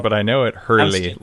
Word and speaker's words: Hurley: but I know it Hurley like the surfboard company right there you go